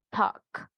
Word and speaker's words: talk: Vamos a iniciar con la L silenciosa. Ya vimos walk. Normalmente, tal vez nosotros decíamos walk. I'm walking, ¿verdad? De caminar. Pero ahora ustedes ya saben, walk. Va la L, pero no se pronuncia.